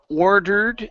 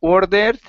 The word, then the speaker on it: ordered: okay very good here this is ordered instead of or dead okay give me a good r and ordered the same drink and order the same